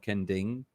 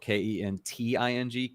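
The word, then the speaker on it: Kenting: to go it's called ken ding okay but it's spelled k-e-n-t-i-n-g kanting which i still know foreigners that say ken ting but it's kending so the t is supposed to be a d sound so i i do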